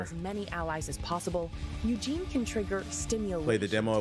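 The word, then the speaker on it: Yujin: j i n but it's pronounced Eugene like Eugene from Hey Arnold that's crazy with like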